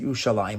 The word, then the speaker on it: Yerushalayim: We pronounce it Yerushalayim, but the actual the Ketiv, the way it's written, is Yerushalem.